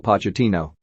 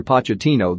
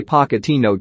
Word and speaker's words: Pochettino: harry redknapp he wrote i only say pocketino to annoy spurs fans but the fact that no one really knows how to pronounce his name says it all to